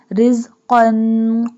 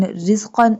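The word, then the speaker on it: رِزْقًا: Rizqan qalu. Qaf. Both qaf in rizqan and qalu pronounced boldly.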